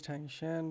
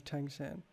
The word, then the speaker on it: Tang Shan: about myself oh himself my name is Tang Shan because of the similarity of the pronunciation is always called by the people in the town as Tang San and over time they directly call me I fish for a